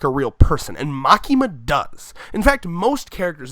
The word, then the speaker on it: Makima: Makima. Okay, that's how it's spelled in there.